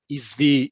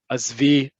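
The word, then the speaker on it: עִזְבִי: writing in the Q&A, I gave you both the formal Hebrew, which is azov, izvi, izvu. And then parentheses, I gave you what you're likely going to hear on the street. At least this is all I've heard of this when it's used in everyday communication, which is azov, azvi, singular feminine, azvu, plural.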